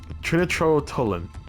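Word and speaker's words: trinitrotoluene: yes oh my God how do you say that word Trinity trinitro trinitrotolin that's it that's how you that really that's what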